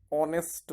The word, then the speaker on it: honest: A is vowel sound, so we will use here an honest man. Honest man. Honest nahi. Honest man. Honest starts with a. So H is not pronounced. It means H is silent here in this word.